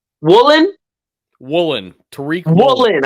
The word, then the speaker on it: Woolen: And then you got Tariq Wilson. I keep saying his fucking last name wrong. Woolen? Woolen. Tariq Woolen. I keep saying Wilson.